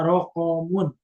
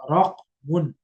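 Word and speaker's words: رقم: Nah, itu suatu kesalahan kalau ada yang membacanya rokomun. Rokomun, padahal rokmun. Wasiatuha rokmun. Bitaskinil qafi. Dengan mensukunkan huruf qaf.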